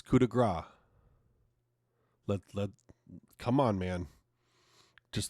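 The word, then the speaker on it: coup de grâce: If Michael Cole can pronounce the fucking thing right, it's not coup de grace. It's coup de grace.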